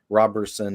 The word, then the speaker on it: Roberson: It's like Robertson. There's the Robertson clan in Scotland, and then Roberson is a sept of the Robertson clan. So it's pronounced the same way, just no T.